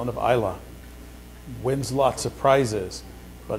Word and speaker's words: Ila: What's the pronunciation of this? Just say coal, like lump of coal, and Isla.